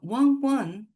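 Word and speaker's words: ワンワン: Well, wan wan is, in English, bow wow or ruff ruff, but you can all say it too because it's just pronounced like the number 1, 1, 1.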